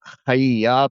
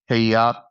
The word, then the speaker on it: Khayat: And it's pronounced Khayat, not uh Khayat.